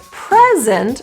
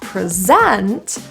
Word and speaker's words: present: So when we have a word like present, the noun, that has one meaning, versus present, the verb, I'm going to present to you, that has an entirely different stress pattern.